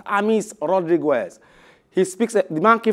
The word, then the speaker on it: James: extensively about the man whose name is spelt james boy is pronounced amis rodriguez he speaks a